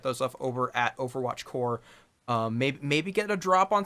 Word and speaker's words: Corps: Well, okay, Core is technically above his head, but make sure you spell it that way. Yep, CORPS. Corpse. Marine Corps, that kind of thing. If you add an E, it's corpse, like what happens to